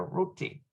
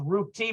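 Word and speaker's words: רותי: Ruthie Roti right here Rooty it's actually pronounced root tea because in the modern there's no h sound in the top you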